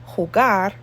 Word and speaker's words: jugar: J in Spanish is J. It's like an H sound. So we say Jamaica, jugar, justo, y juntos.